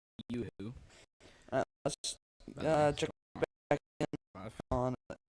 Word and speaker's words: Yoo-hoo: Without the Yahoo, whatever it is. It's pronounced Yoo-hoo.